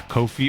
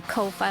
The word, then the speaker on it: Ko-fi: Yeah, Kofi. Well, it's not spelled coffee. C-O-F-F-I. I don't know. I think it's supposed to be like Cup of coffee. Ko-fi, like lo-fi.